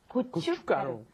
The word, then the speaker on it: gochugaru: you look at it, it looks pretty hard to pronounce. Mm. But gochugaru.